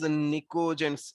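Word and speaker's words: pnictogens: Now these 5a group elements are also known as nicogens. ये आप लोगों को याद रखना है, known as nicogens, known as निकोजेंस. P silent है यहाँ पर.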